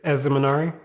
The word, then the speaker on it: Ezemenari: do you say your first name again it's as the minari okay i'm sending you a message right now